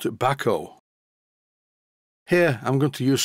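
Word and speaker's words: Bahco: as b a h Co o which I pronounce bco but according to this view of from Sweden it is pronounced Bako here I'm going to use some lock Tity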